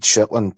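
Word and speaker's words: Shaetlan: Broad Shitland. Yeah. It's pronounced in dialect.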